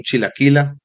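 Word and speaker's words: Chilakillah: Aparecemos como Chilaquila, Quila se escribe, bueno, Chila es C-H-I-L-A y Quila es K-I-L-L-A-H.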